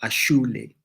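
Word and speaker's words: Asole: on all platforms um it's called aul or ashle but it's spelled a s o l e I've asked her to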